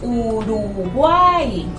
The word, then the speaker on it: Uruguay: A pesar de que la I, de que esa I al final es Y o Y, suena como vocal, porque estamos hablando de lo que es la parte fonética, y allí hay un triptongo, porque vemos Uruguay.